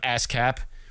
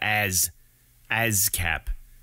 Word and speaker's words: ASCAP: ASCAP. It's like saying jazz, but you're not saying the J in front, so it makes it harder to pronounce.